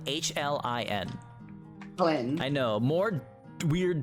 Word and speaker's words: Hlyn: Her name is Hlyn, Hlin. Flynn. I know, more weird dwarven names, but that's how they Hlyn. spell it. Hlyn. Yeah, I'll Fine. start with an H. So like Lynn, but with an H.